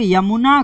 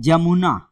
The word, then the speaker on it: यमुना: की यात्रा करेंगे तो ये लोग यमुना को, नदी है यमुना, यमुना नदी को ये लोग बोलते हैं जमुना, जमुना की तरह उच्चारण करते हैं, जबकि ये क्या है, यमुना, यमुना को जमुना बोलते हैं।